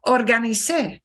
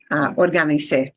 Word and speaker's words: organicé: bueno, perfecto, reorganicé, pero you got to punch the end of that. Reorganicé, organicé, bien, organicé.